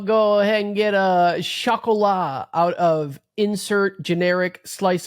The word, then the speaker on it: chocolat: Just call it chocolate. That's not how you say it, though. It's chocolat. It's French, you idiot.